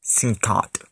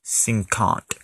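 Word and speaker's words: cinquante: messed up on the number 50 50 is pronounced soon caught again 50 is pronounced sink aunt here's where the French numbers get confusing in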